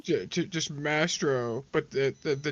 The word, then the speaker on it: Mastrovv: yeah nastro yeah mastro the vs i i know are very uh very confusing but it's a w it's a w so it's mastro master owl just mastro but the the the